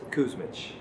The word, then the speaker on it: Kusmich: guest is Nicholas Cushman I always want to make sure I pronounced that right so I want to I want to actually want you to tell the audience exactly how you pronounce your last name Nicholas Kuzmich yeah I was close so close i butchered